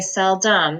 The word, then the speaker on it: seldom: dumb now it's I we say sell dumb because that schwa turns us to it or uh but it sounds like Dom I'm sorry it looks like Dom so sell Dom sell um